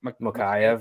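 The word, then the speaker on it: Mokaev: Mokayev, yeah.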